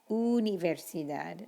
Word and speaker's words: universidad: How do you think you pronounce university in Spanish? Universidad, not universidad. Uno, universidad, u.